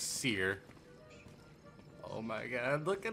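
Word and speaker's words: Cere: Alright, so I was saying her name wrong too. It's Seer.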